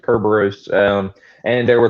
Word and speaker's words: Kerberos: Well, Kerberos is based off of Cerberus, so it's the way that Cerberus used to be pronounced, Kerberos.